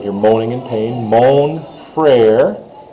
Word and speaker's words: frère: Mon frère. Frère, like Frère Jacques, if you remember that song, Frère Jacques.